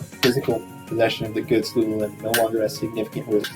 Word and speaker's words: Lululemon: Was I saying it right? Lululemon.